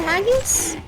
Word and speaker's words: haggis: Isn't it haggis?